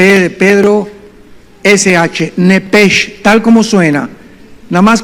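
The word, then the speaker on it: נפש: P de Pedro, SH, nepesh, tal como suena. Nada más que la CH en el hebreo se pronuncia como J, se pronuncia nepej, como J.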